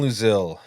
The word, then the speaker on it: Louzil: Luzil. It's like Brazil with Lou in front of it.